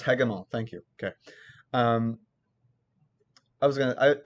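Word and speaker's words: Hegemol: oh really yes hey come on oh it's pronounced hagemal thank you okay um i was gonna i was gonna pronounce it hedgemoth uh but yeah so you get to you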